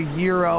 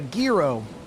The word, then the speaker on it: gyro: Yeah, I know people say it's a euro. I It's a gyro, dude. That's just That's what I call it. That's what I've always called it. That's how it's spelled. You know, there's some people that call it a girro.